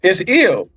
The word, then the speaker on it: Il: Yeah, it's Il. So in the Ugarit, it's Il, which is the I and the L.